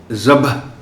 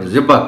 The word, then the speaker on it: ذبح: اب اس کو بھی، اس لفظ کو لوگ غلط بولتے ہیں، بلکہ زال کے نیچے زیر دے دیتے ہیں اور ذبح کہہ دیتے ہیں۔ وہ سارے اعراب کو